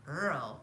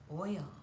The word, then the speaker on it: oil: the garlic and the Earl over there and I'd say Dad it is not pronounced that way it's not Earl it's oil you so I was